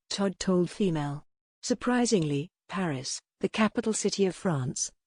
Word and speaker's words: Paris: presumably Emile, Ian while Babbel say the phonetic pronunciation is Paris.